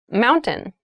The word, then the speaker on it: mountain: Keep in mind when you pronounce this word in fast speech, it sounds like mountain. The T sound is reduced.